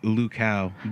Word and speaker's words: Luchau: do you pronounce it it's pronounced lucow cow yeah it's german but you know growing